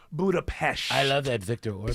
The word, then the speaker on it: Budapest: Even though it's spelled P-E-S-T, it is pronounced Budapest.